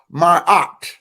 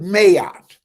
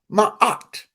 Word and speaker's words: Maat: okay understand that that feminine principle is called my art some pronounce it mayat okay the long m-a-a-t my art that's how I pronounce it okay some notes